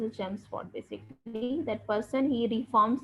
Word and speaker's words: Chelmsford: The pronunciation is Chelmsford.